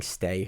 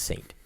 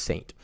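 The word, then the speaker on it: Ste.: stay it's it's pronounced Saint it's pronounced Saint we've done this for years Banna St Marine it's it's just the fren pronounce it's just the French spelling it is pronounced Saint um French Canadian French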